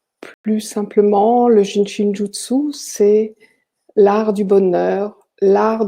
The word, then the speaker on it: Jyutsu: comme le pays et jutsus il suffit tout simplement de prononcer toutes les lettres et le hub se